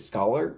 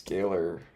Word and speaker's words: scalar: Is it scholar or scalar? Scholar or scalar? Oh gosh, I can't mess up on the first sentence here. I think it's scalar pronunciation. Scalar. Scalar, okay, we were right.